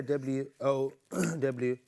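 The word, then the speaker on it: واو: Letter wow. We don't say W-O-W. The letter is literally wow.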